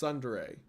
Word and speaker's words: Tsundere: Tsundere. It's pronounced Tsundere.